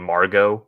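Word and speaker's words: Margot: like like the name Margo usually has a T at the end but you don't pronounce the T in that so oh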